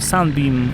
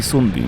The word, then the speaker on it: Sunbeam: stronę ah ch co do wymowy Anglicy mówią zarówno SIM jak i sunim w zależności od tego czy jesteśmy na północy Czy na południu kraju wszystkiego dobrego razu